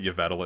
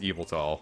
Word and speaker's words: Yveltal: the evil tall getss I think most people pronounce that you Vettel at first I know I did but they